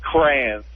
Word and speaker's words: crayon: Hey, I've always colored with crayons. See, Not crayons, I cannot say that word right. I say the word crown. Like, I color with a crown. The actual word is a crayon.